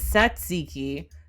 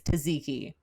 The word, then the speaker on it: tzatziki: hold on the british pronunciation is satsiki the american one is taziki well i mean when